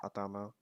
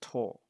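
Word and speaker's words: 頭: So you can use that for large animals as well, but it's not pronounced atama. In for the, as a counter, it's pronounced to, T-O-U, ito.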